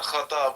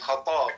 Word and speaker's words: Khattab: So when Arabic, it's not khatab, it's khatab, right? Khattab, yeah. Khatab, yeah.